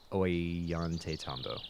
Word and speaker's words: Ollantaytambo: Ollantaytambo.